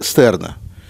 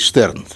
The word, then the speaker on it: Штерн: «Мессианский еврейский манифест» Давида Стерна. Но я думаю, правильнее все-таки произносить Штерн, если мы говорим о немецком произношении или идишском произношении этой фамилии. Есть и тот, и другой вариант.